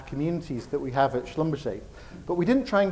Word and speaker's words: Schlumberger: Most people struggle and call it Schlumberger, but it's Schlumberger.